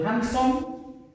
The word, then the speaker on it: handsome: Before we conclude, I told about handsome, this word handsome, that the E is silent, so it corresponds to this. Okay? So handsome, more handsome, most handsome. Don't be confused, okay, with the E. The E, we don't pronounce it, so it's silent.